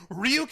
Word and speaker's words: Ryuk: because willow of the foe was awesome as ryuk that's like one percent of the movie that's pronounced ryuk before you get any funny ideas